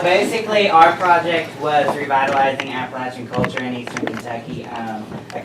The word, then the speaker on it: Appalachia: It's pronounced Appalachia, Not not Appalachia.